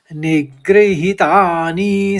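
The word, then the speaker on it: निगृहीतानि: आराम से पढ़ लीजिएगा निग्रहितानी सर्वश नी ह्रस्व होगा और ही दीर्घ होगा और नी फिर ह्रस्व होगा और सर्वश में ह करके आप उच्चारण करेंगे निग्रहितानी सर्वशः तीसरे चरण में एक ही शब्द है।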